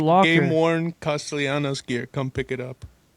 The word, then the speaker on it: Castellanos: It's Castellanos, Nick. Can we get that straight? Sorry, Yeah, sorry. I don't know what you were saying, bro. You're adding a whole lot of Castellanos. L syllables in there. Too many L's.